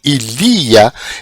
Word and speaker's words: ilia: Então o acento, no caso de ilia, ele vem para a segunda sílaba do ilia, que é o li. Então muda o local do acento.